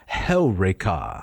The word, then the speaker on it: Heureka: Although most people would say Eureka. Eureka. They would put the emphasis on the penult. On the wrong syllable. That's right. Yes. It goes on Heureka.